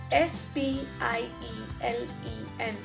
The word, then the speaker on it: spielen: have fanzine fanzine f-e-r-n-s-a-h-e-n transient then we have spielin s p i e l e n which means to play spielen is to play